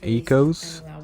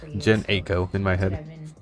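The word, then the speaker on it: Jhené Aiko: album is so good ecos that's how you say her name i've always said jen aiko or disposable or like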